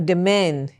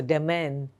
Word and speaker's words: demesne: Next, a demesne. Okay, so S is silent, of course. So demesne, it's resignation, region, lowly conduct, good behavior.